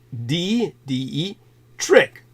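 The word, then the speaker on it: Detrick: I assure you uh spelled d-e-t-r-i-c-k like d d e trick like uh Trix are for kids like um trick like turning a trick if you're a prostitute t-r-i-c-k Fort Dietrich also uh Dr Cornelius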